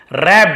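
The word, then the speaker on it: wrapped: रैप्ड, यहां पर भी डब्ल्यू साइलेंट, जैसे राइट रोट देखे ना, वहां पर वैसे भी डब्ल्यू एक साथ हो तो डब्ल्यू को नहीं पड़ता।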